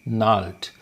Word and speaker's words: gnarled: remember the word naughty nulled here g is silent okay so i hope